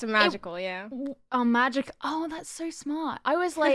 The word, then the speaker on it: MAJKL: Oh, magic. Oh, that's so smart. I was like, I don't know how to pronounce this.